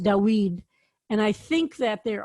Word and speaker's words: David: still pronounced this way more of a w sound so we actually think